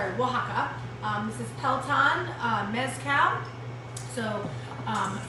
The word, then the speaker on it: Oaxaca: we are going to be using Mezcal from Oaxaca. Right? Is that how you say it? Yep. Oaxaca. I can never say that right. Oaxaca. Oaxaca.